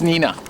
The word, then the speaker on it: Neenah: It is Neenah. That's how it's spelled, Nina.